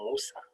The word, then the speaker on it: Moussa: my name is uh musa and it is very easy to pronounce so let me teach you how to pronounce my name think about chocolate mousse so musa and this solves a